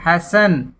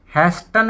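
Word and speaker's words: hasten: इसी तरह हैसन, हैसन, यहाँ टी साइलेंट रहेगा, हैसन। हैस्टन नहीं बोला जाएगा, हैसन बोला जाएगा।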